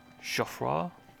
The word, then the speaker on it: Geoffroy: It's like Jeffrey, but French. Geoffroy.